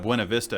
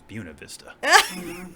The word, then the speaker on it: Buena Vista: i said i said i said buena vista and he said put your hand out and he whacked me said it's buna vista and so i learned